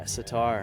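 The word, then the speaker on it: sitar: tomorrow in Atlanta that plays a seatar is that how you say it yeah satar satar that thing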